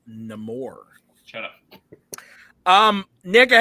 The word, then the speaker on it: Namor: Black Panther wakanda forever I believe it is pronounced namore shut up um Nick